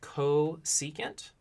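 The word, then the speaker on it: cosecant: is defined to be its CSC and it's pronounced ko secant and really you would just flip this fraction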